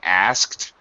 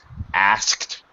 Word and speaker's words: asked: careful about correctly pronouncing asked which you did uh perfectly good job the but it's very difficult SKT sound asked for those two sudden glottal stops are very difficult so I just want